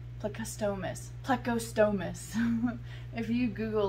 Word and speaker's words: plecostomus: say it on google translate no on google pronunciate she said plecostomus plecostomus if you google like how to pronounce